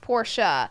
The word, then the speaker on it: Porsche: So Porsche is actually pronounced Porsha.